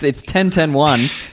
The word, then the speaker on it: 10101: It's 10.10.1, but it actually looks like 10101. So, well, again, let's start there. Why the name 10.10.1? 10.10.1. It's quite a nerdy name, actually. It's binary. It's 1010101, which is the binary representation of 21.